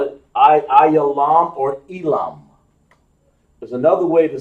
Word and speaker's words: Elam: When you see Elam, what you're seeing, Elam, in the Bible, is translated Ayalam, or over here in the Hebrew, as we spell it in the ancient Hebrew, Ayalam.